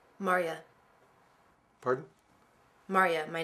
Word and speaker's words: Marya: Myra. Marya. Pardon? Marya. My name is Marya. M-A-R-Y-A. Oh, Mariah. Marya. Marya. Two syllables, Marya. Not Maria, not Myra, not Mara, not Mara. Marya.